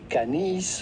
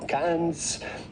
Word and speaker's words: Cannes: is definitely silent so do not say canis or cans but rather simply can can with the famous o sound in french at the end if you can can otherwise you say